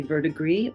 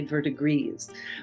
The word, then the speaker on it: verdigris: The verdigre Pawn now there are two ways that you can pronounce this word you can say vertigree or you could say vertigres but I think no